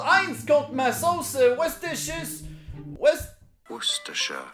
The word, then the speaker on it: Worcestershire: Worcestershire. Stress on the first syllable. Worcestershire. Yeah. Only 3 syllables.